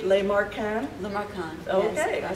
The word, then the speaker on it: Lemarquand: Lemarquand.